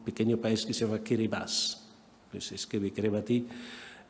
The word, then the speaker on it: Kiribati: Por ejemplo, hay un pequeño país que se llama Kiribati, que se escribe Kiribati, y que tiene una población de